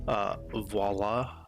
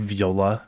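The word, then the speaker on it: voilà: Lastly, I may have mispronounced voila, along with me calling the hillside Yeah, I said viola at some point. I still do. Sometimes I'll say viola instead of voila, because that's just how my brain reads it.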